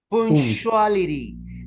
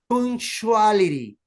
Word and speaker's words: punctuality: Try to pronounce punctuality. And here you make the blending. Blending is when you got the letter T or D between vowel sounds, you pronounce the letter R. Okay? Punctuality.